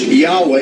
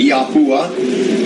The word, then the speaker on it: Yahweh: It also helps if you ask Yahweh, YHVH, okay? Some people pronounce it Yahuwah. Some people pronounce it Yahweh, Yahweh.